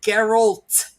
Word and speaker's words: Geralt: the man's name correctly it's geralt there's no d there i'm gonna be like